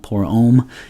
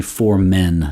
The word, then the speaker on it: for Men: for the name is it's not um right it's not poor om in french it's actually for men so it is london